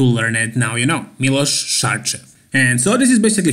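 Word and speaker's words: Miloš Šarčev: And if I didn't tell you already, his name is pronounced Milos Sarcev. So Milos sh like shorts, Sarcev ch like chair. Milos Sarcev.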